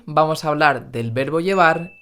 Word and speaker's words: llevar: Llevar con V pronunciada con B, porque en español el fonema V no existe.